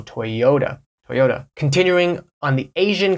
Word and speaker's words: Toyota: and hello to stellantis a couple of Asian car companies that are very famous that you might not be pronouncing correctly Toyota Toyota toota right that intonation is on that o Toyota Toyota continuing on the